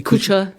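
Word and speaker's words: Kucha: Is that pronouncing it correctly? Kusha.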